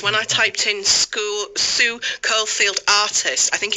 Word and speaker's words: Caulfield: It's because Sue told me to pronounce her name as if it starts with cauliflower. Sue Caulfield, cauliflower.